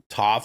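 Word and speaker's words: Toph: The Last Airbender reveals Toof casting did I pronounce that right Toof right not to yeah to to that's what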